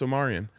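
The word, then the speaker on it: Omarion: you're going to have to learn that it's pronounced Omarian Omarian yes is that how the singer said it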